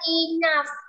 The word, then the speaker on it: enough: Jadi kalau menemuin GH ya, GH di belakang kata itu bisa aja dia dibaca F ya, dibaca F. Ada yang nggak dibaca sama sekali. Tetapi dalam konteks ini dibacanya adalah F.